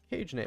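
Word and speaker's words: CAJE: How would you pronounce that? Cage? Cage? I'm gonna pronounce it Cage.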